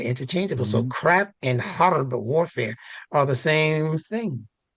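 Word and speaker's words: حرب: Harb, that's the word for war. Harbun, harb. H, guttural.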